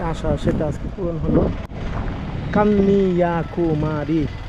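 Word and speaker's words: Kanniyakumari: সেটা আজকে পূরণ হলো কান্নিয়া কুমারী উচ্চারণ কে এন এন I Kanni Y এ কান্নিয়া কে ইউ এম এ আর আই কুমারী কান্নিয়া কুমারী তো আজকেই বিবেকানন্দর যে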